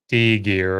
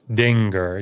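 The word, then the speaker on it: dingir: give students some trouble it is generally speaking an ng sound as in singer so um thus the sumerian word dinger it's not d gear or something it's dinger d-i-n-g-i-r is how it's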